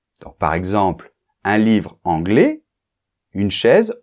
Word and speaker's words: anglais: adjectifs à la prononciation par exemple anglais masculin anglaise féminin c'est très important que pour le féminin tu prononces bien le ze de la fin c'est-à-dire le S pour le masculin le S la lettre S est en position finale donc comme généralement les consonne elle ne se prononce pas anglais quand on rajoute la lettre E la lettre E en position finale est muette mais attention la lettre S n'est plus muette parce qu'elle n'est plus